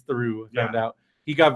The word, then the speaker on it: Theroux: But well, because it is like it's in the French, it is ooh. The OUX is ooh.